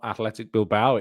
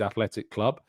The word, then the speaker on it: Athletic Club: It's not athletic bilba. It is athletic club. It's not even athletic club deil ba. There's no deil bao on it. It's just athletic club.